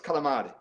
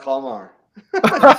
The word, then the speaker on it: calamari: It's calamari. Calamar. No, calamar? No, it's not calamar. It's calamari.